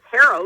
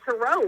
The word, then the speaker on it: tarot: Steve, I have to tell you, I'm incredibly impressed that you said instead of tarot, you said tarot, which is the actual correct pronunciation.